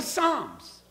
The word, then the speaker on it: Psalms: I called Psalms Psalms. I really did. I did. I called it Psalms. That's how it's spelled, isn't it? Nobody told me it's Psalms. What's the P doing there? Get it out of there. If it's Psalms, it ought to start with an S.